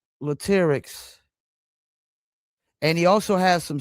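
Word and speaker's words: Latyrx: Is that Latics? That you did pronounce it right, which is not Everybody don't do that, but yeah, you did.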